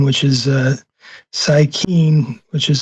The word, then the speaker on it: Psykeen: Instagram account under a different name, which is Psykeen, which is spelled Cyyykeen, and there's some digital art up there.